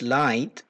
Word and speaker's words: LITE: The abbreviation that we have created for this intervention is LITE, L-I-T-E, and pronounced as light to show that this intervention will make essay writing a lighter task for students.